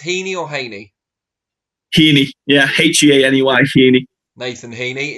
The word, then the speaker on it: Heaney: Is it pronounced Heaney or Heaney? Heaney, yeah, Heaney, Heaney.